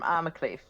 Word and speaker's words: Armacliffe: Okay, I'm from Armacliffe, but it doesn't exist Oh anymore. yes, and it is pronounced not as opposed to Arncliffe, it is pronounced Cleef. Yes, I like that. Yes, like Queef.